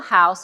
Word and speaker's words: Haus: it yeah yeah so sustainable house it's spelled h-a-u-s the german way yeah um to sample